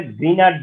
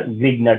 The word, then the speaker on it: Grignard: আসলে তো এটা গ্রিনার্ড রিয়েজেন্ট, গ্রিনার্ড, গ্রিনার্ড, কথা বুঝতে পারছো? গ্রিনার্ড, তো গ্রিনার্ড বললে অনেক সময় স্পেলিং মিস্টেক হতে পারে, এই কারণে আমরা গ্রিগনার্ড উচ্চারণ করি।